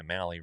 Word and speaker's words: Mahle: And then like we talked about our guy Mahle, rhymes with rally.